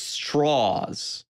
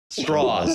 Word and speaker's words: Strauss: machinations of Strauss or as he keeps saying to everybody in the movie It's straws that's straws that's that's how you